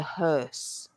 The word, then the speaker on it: hearse: coffin is called the hearse hearse which is also a bit of a tricky spelling and pronunciation think of her like his and her and then you just put an S at the end HSE HSE H MH